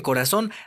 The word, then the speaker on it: corazón: Por ejemplo, en corazón, la sílaba tónica está en la última sílaba.